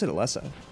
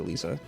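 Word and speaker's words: Elesa: But uh they pronounced it Lisa. So I'll call it that. I've just been sort of like, you know, cuz I want to get the pronunciations right. No, it's Lisa. It's just like Lisa with an E in front of it. That's what they say.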